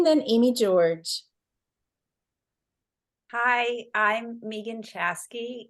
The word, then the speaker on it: Megan: Hi, I'm Megan Chasky. My name is spelled M-E-G-A-N, but I pronounce it Megan, so that's why I put 2 E's on the Zoom.